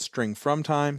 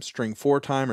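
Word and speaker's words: strftime: method called stf tiim you can either pronounce that string from time string for time or string formatted time but what you pass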